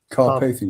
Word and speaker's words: Carpathian: Have I said it wrong again? Carpathian, you did well that time.